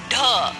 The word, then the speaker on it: ढ: ड के बाद का वर्ण है ढ। बोलिए ढ। ढ। ढ भी मूर्धन्य ध्वनि है। इसका उच्चारण अंदर से आती वायु द्वारा जीभ की नोक से मूर्धा को छूते हुए होता है।